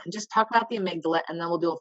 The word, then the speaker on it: amygdala: amy middle initial g last name dala that's the best way to remember it so amygdala it's a very strange what i have clients who call it miguel don't worry if you